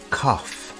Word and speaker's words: cough: do you have a cough the word cough has an unusual pronunciation instead of a g sound we have an F sound here do you have